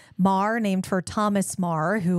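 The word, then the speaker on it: Meagher: I wanted to we we said Mar because we know how to say it but it will look like meager to you thank you it's m e a g h e r Mah named for Thomas Mah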